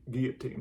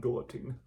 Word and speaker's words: guillotine: teacher in 8th grade, it was actually guillotine, not not guillotine.